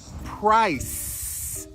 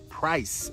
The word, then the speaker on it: price: This first word ends with an unvoiced S sound. Price. Price, okay, with a PR blend at the beginning.